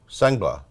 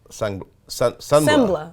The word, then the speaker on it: Sengbloh: Sengbloh. Sengbloh. Yeah, like the G is silent. Sengbloh.